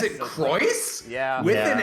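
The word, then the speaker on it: Crois: Shockingly enough, yeah, no, you'd think it would be Craw, but they actually just It's straight up Croy. pronounce it Croyce. With the Croyce? Is S it as the- Croyce?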